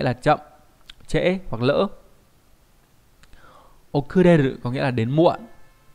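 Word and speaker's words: 遅れる: Okureru có nghĩa là đến muộn.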